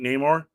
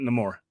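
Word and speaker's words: Namor: says it no more I grew up calling it Neymar but he in the movie he pronounces it no more and that that's that's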